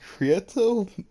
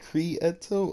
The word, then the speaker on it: Krieto: my name freaking just it's either you say creato you like cree eto or you could just